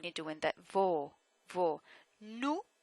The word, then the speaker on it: nous: Nous, nous, O-U, nous, like my name.